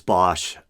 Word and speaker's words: Bosch: I may have mentioned Hieronymus Bosch. I think it's supposed to be pronounced Boss, but no one pronounces it that way.